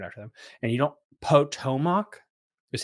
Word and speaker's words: Potomac: And you don't Potomac is how we actually say it. The proper way of actually saying it is Patomac.